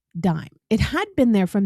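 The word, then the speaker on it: disme: And in the early age of the republic, it was spelled d i s m e, even though it was still pronounced dime.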